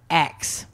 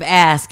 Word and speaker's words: ask: and I also tutor they will say x oh yeah instead of ask I'm like it's the S comes before the K yeah yeah you